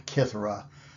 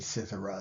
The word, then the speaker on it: cithara: Here we've got Apollo, and he is holding a cithara or a kithara. The Latinate spelling would be with a C, and we would pronounce it cithara.